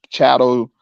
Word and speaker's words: chattel: Like, and some people pronounce it Chattle Slavery, but you know what I'm saying, chattel, but it definitely ain't cattle.